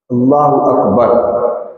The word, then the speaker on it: اللہ اکبر: اللہ اکبر یہ ہونا چاہیے. اس لیے تحریمہ کا صحیح تلفظ ضرور سیکھ لینا چاہیے.